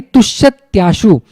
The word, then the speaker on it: तुष्यत्याशु: तो तुष्यति प्लस आशु बन जाता है तुष्यत्याशु। तो इसको उच्चारण करते समय आप तुष्यति आशु भी बोलो, या तो फास्ट बोलेंगे तो तुष्यत्याशु बन जाता है।